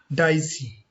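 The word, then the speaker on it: Dicey: तो अगर अगले महत्वपूर्ण परिभाषा की बात करें तो उसमें नाम आता डीसी, डाइसी, यू can pronounce डाइसी।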